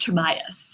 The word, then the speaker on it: Tobias: His name is pronounced Tobias.